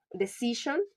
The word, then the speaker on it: decision: Decision, the stress is on the second to last syllable because the suffix sion.